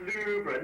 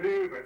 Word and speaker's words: Louvre: It's pronounced Louvre, Louvre, so much you know.